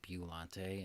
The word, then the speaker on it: Biollante: Biollante, which I noticed some people were confused by me pronouncing it Biollante in the top 10 video.